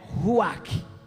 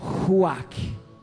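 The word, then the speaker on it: רוח: Mas então Deus disse ruach. Deus soprou. Não é possível você pronunciar essa palavra sem soprar. Ruach, ruach, não dá. Independente do seu dialeto, independente do seu idioma, quando você diz ruach, você sopra.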